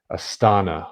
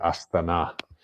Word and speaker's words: Astana: Still, probably the major city of Kazakhstan, and the new capital is Astana, or as they say here, Astana, and it's further to the north.